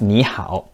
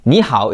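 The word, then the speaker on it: 你好: they pronounce like this so when two third tones are together the first one turns to the second tone but it's still written in the third tone normally Nihao is more than enough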